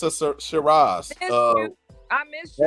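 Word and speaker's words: Syrah: yeah okay i r a z right the shiras yep my bad PD so it's a blend say shiras I said Shir how you sp how do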